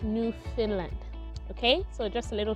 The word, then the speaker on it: Newfoundland: new finland and not newfoundland yes it is spelt as newfoundland but it's actually pronounced new finland okay so just a